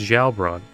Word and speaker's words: Gjalerbron: they call the place kajal run though you'd pronounce it the pronounce the Gish as if it were Ash oh odd creatures so it's jailbrawn but that's not important